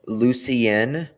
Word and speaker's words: Lucien: Okay, it's Lucien is how you pronounce it. Lucien. I know someone that has a name, Lucien. So people pronounce it differently, but it's Lucien.